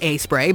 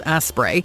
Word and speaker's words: Aspray: like Doc bottoms and aspray pronounced aspray but easily misread as aspray you'd think this product